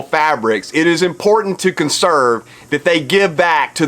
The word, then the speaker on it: CNSRV: Consrv, CNSRV. That's how you pronounce it, Consrv.